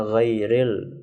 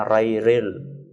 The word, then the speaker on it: ghairil: Atau misalnya ghairil, bacanya rairil. Ghairil, bacanya rairil. Itu sudah berubah makna.